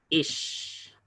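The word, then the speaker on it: איש: Ahora, una I súper larga la tenemos en la palabra ish. Ish, que significa hombre.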